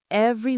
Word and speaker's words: every: It looks like it has three syllables. Every. But in natural fast speech, we almost always say it with two. We swallow the middle syllable. So, it's not every, it's every.